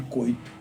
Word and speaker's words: Couto: espanhol parecido com francês eles chamavam de coito na realidade se escreve Couto certo e cham coito porque o u no espano provençal no francês tem um som de i uhum chama o coito